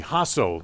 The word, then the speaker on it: Jasso: Izzy Hasso, that's how they pronounce it, with the pitches up high, ball 1 with a breaking pitch here in the bottom of the 4th inning.